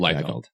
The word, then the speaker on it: Liefeld: Liefeld.